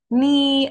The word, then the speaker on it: knee: No, the K is a silent letter here, so we never pronounce it. We start from the N sound like knee.